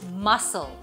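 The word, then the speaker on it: muscle: এবার আসি সি তে সিও কিন্তু বেশ প্রবলেম্যাটিক যখনই সে এস এর পরে আসে সে সাইলেন্ট হয়ে যায় যেমন মাসল scissors scene scenario fascinate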